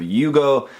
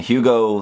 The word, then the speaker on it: Hugo: the unboxing I guess the name is technically somewhere between the Japanese pronunciation of Yugo and Hugo so you you you go like that anyway but uh it's